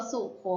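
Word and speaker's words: รสสุคนธ์: ทำ ต่อ ไป ค่ะ คำ ว่า รส สุ คน รส สุคนธ์ อ่าน ว่า รส สุ คน รส สุคนธ์ ประกอบ ไป ด้วย เรา เดือน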